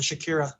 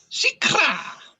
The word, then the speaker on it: shikra: And then the last answer we got was from Gear in Situ, who said the chakra or the Shakira. I like Shakira. Shikra! I regret saying it. Say it right, Paul.